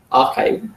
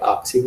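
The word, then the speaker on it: arXiv: Yeah, it is pronounced as archive, not archive or something.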